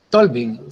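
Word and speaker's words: Tulving: El autor es Tolvin, se escribe T-U-L-V-I-N, Tolvin, ¿ya? O sea, Tolvin, así como Donald Trump, ¿ya? Que se escribe Trump.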